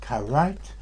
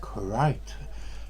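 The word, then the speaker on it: krait: make as I said I always assume that karate was a anglo-indian pronunciation of crate and it might well be that the name kurite k-r-a-i-t inspired Kipling when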